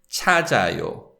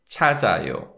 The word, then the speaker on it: 찾아요: verb, which is pronounced 찾아요, 찾아요. So when we say this word, the sound of the 지읒 links with the following syllable as the following syllable begins with 이응. So it's 찾아요, 찾아요.